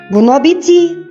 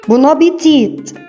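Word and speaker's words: bon appétit: الكلمه دي لها نطقين، النطق الاشهر اللي هو النطق الفرنش، بونابيتي بونابيتي بونابيتي بونابيتي. النطق الانجليش بتاعها بونابيتيت بونابيتيت بونابيتيت. الفرق بين الاثنين ان الفرنش ما نطقوش التي الاخيره، لكن الانجليش نطقوها بونابيتي فرنش بونابيتيت انجليش.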